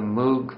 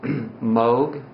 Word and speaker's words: Moog: on um here in Asheville we're having the moo Fest and I know it's supposed to be pronounced Moog but it's spelled m o o and that